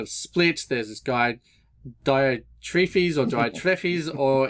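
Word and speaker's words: Diotrephes: split there's this guide diode tree fees or Diet trophies or if you want to try and pronounce it correctly diatrifice depends on whatever your pronunciation you want to go through Greek but that's there and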